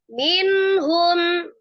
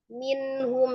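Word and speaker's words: مِنْهُمْ: Coba biasakan jangan menukik pada saat nun sukun dan mim sukun, bukan minhum, enggak ya, minhum biasa aja, tidak terpengaruh.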